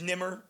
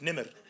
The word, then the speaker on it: Nemr: here you know and my name is nimmer which means tiger that's it's Arabic nimid this is how you pronounce it but I don't even